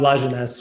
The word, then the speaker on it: Lajeunesse: Uh Lines, which um I'm sure French people would also frown at me even though it's my own last name.